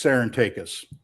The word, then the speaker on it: Sarantakes: Well, in English, it's Sarantakes. Sarantakes.